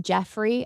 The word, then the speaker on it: Geoffrey: It's pronounced Jeffrey.